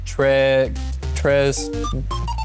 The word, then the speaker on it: très: Here the S is silent as well. We don't pronounce it. It's just très.